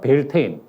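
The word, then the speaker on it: Beltane: 그거를 그 영어식으로 발음하면 벨테인 혹은 켈트에 가깝게 발음하면 벨타네라고 불려왔는데 이 벨타네 축제, 벨테인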